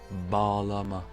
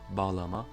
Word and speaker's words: bağlama: Elle permet l'allongement de la voyelle précédente. On le voit dans l'exemple suivant. Bağlama, bağlama. On va pas dire bağlama, mais bağlama. On voit bien que le A qui précède est allongé.